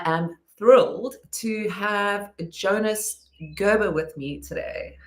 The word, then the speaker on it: Gerber: Habber. Um Gerber is how is how we pronounce it, how I pronounce it.